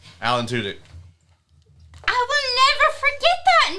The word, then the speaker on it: Alan Tudyk: Alan Tudyk. Thank you. It's like Joe Alan. Henry. It's like a guy named Alan with 2 dicks. Alan Tudyk.